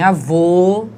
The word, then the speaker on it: avô: Então, em avó, o som é aberto. Entretanto, em avô, o som é fechado, certo?